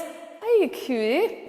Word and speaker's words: Haikui: It's Haikui.